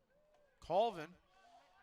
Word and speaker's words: Colvin: Team Ontario, number 41, Connor Colvin. Colvin. That's how they're pronouncing it.